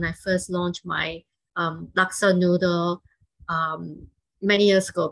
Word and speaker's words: laksa: back in 2014 uh people had a hard time pronouncing it i i got a lot of people they say they call it laska noodles because they think it looks like alaska la scala noodles right and so it